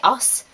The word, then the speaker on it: horse: it like this, but a lot of people around me say os, which means horse, which I quite enjoy because it just sounds funny.